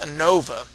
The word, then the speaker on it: ANOVA: Analysis of variance, denoted AN for analysis, O for of, VA for variance, and pronounced ANOVA, can be used to test for the equality of three or more population means.